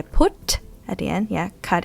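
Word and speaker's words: พุธ: Now, this one is dead syllable, short vowel, high tone because phaw phan is low class. Yeah. Put. Put. Put.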